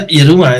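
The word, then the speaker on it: Yiruma: I'm really pleased I found you, because I was very addicted to, probably going to say their name wrong, but is it Yeruma? Yeah, Yeruma, yeah.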